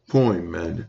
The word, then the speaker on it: Pymander: And then he wrote the Divine Pymander. Some people pronounce it Poimander.